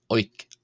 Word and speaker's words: ⲱⲓⲕ: Oink. Oink. O means bread and is pronounced oink.